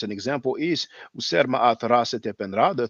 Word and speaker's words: Ma'at: slide about Ma'at, and we do have the vowel sound A and also the glottal A, because that's why we pronounce it Ma'at.